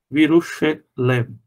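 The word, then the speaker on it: בירושלם: Então, Virushlem. Tem que pronunciar o Shva aqui, e depois de uma vogal longa, o Shva é pronunciado como E. Virushelem, em Jerusalém.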